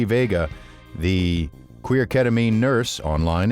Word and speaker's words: Veiga: excited to have as a guest today T Vega and am I pronouncing your last name correctly T yes you